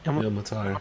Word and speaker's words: Ilmatar: is Tormtir and Il- how do you say that last word? Ilmatar. Ilmatar. Ilmatar. Ilmatar, yeah.